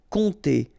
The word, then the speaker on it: compter: Compter sur, remember this P is not pronounced, and then O and M together will give you this nasal on. Compter.